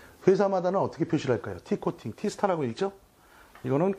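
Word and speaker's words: T*: T코팅, T스타라고 읽죠?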